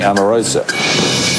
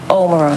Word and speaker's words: Omarosa: weat link as being Amorosa Omar Ro up here if you're going to say my name say it right what's your name Omarosa sorry I know you're